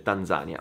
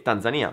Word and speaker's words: Tanzania: della Tanzania, che, parentesi, se vai sul dizionario italiano si dice Tanzania, ma la pronuncia etimologica, ovvero quella pronuncia che si rifà a come viene detto il nome nella lingua originale, è Tanzania, perché gli inglesi dicono Tanzania, i tanzanesi, tanzaniani, oh mio Dio, non lo so, gli abitanti della Tanzania dicono Tanzania, quindi io ho voluto utilizzare la pronuncia che usano loro.